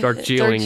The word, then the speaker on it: Darjeeling: Limited or shielding no Darjeeling apparently is the correct way to say you're saying it right the whole time it's me it just